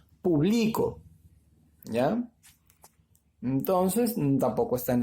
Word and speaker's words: público: A ver, en la antepenúltima no está, ya no es público. La mayor fuerza de voz la está llevando acá, en la penúltima sílaba. Por lo tanto, la palabra se pronuncia publico.